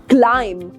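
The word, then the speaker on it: climb: pronounce this word right but इसकी pronunciation क्लाइम नहीं है इसकी प्रोनंसिएशन है क्लाइम क्लाइम right similarly if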